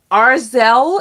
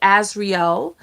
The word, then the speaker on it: Azriel: Arzel is what they were calling her. Her name is Azriel.